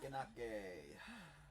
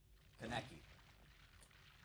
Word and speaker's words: Kaneki: We'll have a P1 Kanake. Or whatever his name is. I'm gonna look up how to pronounce these words actually. Kagune pronunciation. Pronunciation. Kagune. Kagune. Kagune. Okay. Kaneki pronunciation. Kaneki.